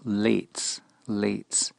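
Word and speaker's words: לצים: The scoffers, or sometimes translated mockers, the word is pronounced lates.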